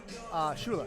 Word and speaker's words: Schuyler: By the way, interesting spelling of the name Schuyler. Yes, I would never pronounce it Schuyler. No, what but would you pronounce it? Schuler.